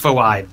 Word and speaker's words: Phoibe: It's pronounced Phoibe, dude.